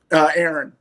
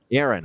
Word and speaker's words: Aaron: How do you pronounce it? Aaron? Aaron. Aaron. Oh, Aaron. All right. There we go. I should have known. It's just without the A after the first A.